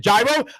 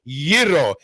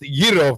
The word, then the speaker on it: gyro: gyro okay now gyro i mean you said gyro i don't want to hit gyro it's called yiro it is pronounced giro for all you americans and all greeks out